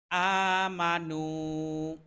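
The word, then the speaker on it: آمَنُوا: করে ইল্লাজিনা ইল্লাজিনা আমানু আ এখানে এক আলিফ টান হবে নু এখানেও এক আলিফ টান হবে আমানু আমানু ওয়ামিলুস ওয়া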